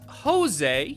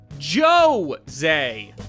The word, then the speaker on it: Jose: it's not Jose you know like the actual Spanish name but rather Joe Zay my name is Jose